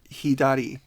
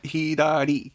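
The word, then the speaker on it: ひだり: It kind of has like an R and L mixing. So it's not L. Yeah. It's not It's Re. Yeah. Re. Yeah. So Hidari.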